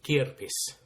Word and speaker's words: kirppis: to talk about the kia piss so henna what is kierpis have i said it right to start yeah yeah you did yeah it's it comes